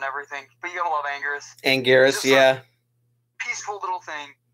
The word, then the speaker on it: Anguirus: Well, the Japanese pronunciation of the name, the R sounds like an L because they roll their R's a lot.